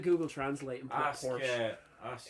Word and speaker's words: Porsche: In German, it is Porsche.